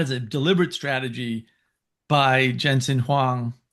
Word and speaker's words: Jensen Huang: a deliberate strategy by Jensen Huang uh I think that's how you pronounce his name at at Nvidia